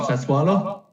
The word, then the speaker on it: Sassuolo: about the fifth variation on that pronunciation so far tonight. What are they called? Sassuolo?